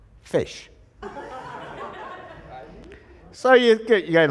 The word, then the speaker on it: ghoti: an English word Gotti goatee gee hottie okay thank you Frank eat it's actually pronounced fish so you going like